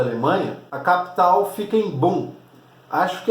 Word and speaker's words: Bonn: Já do lado dos capitalistas ali, na República Federal da Alemanha, a capital fica em Bonn. Acho que é assim que se pronuncia, é B-O-N-N, tá, o nome da cidade.